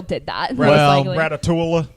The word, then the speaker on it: Ratatouille: I knew how to pronounce it from the get-go because that's the exact same thing as the city of Versailles in France. Versailles. So, Ratatouille, Versailles. Ratatouille. Versailles. You don't pronounce the double L.